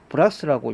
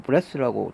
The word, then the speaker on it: brass: 읽기도 하고 브레스로 영미권에서는 아마 저 영국 쪽에서는 브라스라고 있고요 영어 미국에서는 브레스라고 주로 발음하는데 브레스 이거는요 영어로는 블레스인데